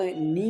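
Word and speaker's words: knee: पैटेला bone की हम यदि बात करें तो वो नी में उपस्थित होती है। कहाँ पर? यहाँ पर के साइलेंट है, नी में उपस्थित होती है।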